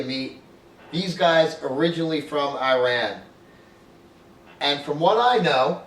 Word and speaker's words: Iran: time yeah um well we pronounce the country as Iran I know a lot of people they say I ramble it is Iran so um well first